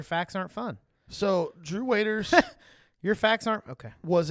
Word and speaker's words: Waters: pronunciation bille today Drew waiters I will I realiz phonetically phally I knowe was me Yep this phonetically looks like waters I agree but it's pronounced waiters my fun facts are